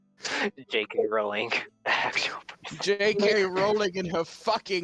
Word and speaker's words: Rowling: pink JK Rowling JK Rowling in her grave it's pronounce rolling guys I think it's